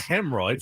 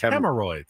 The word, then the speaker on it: hemorrhoids: It's not hemorrhoids. It's hemorrhoids. There's three syllables.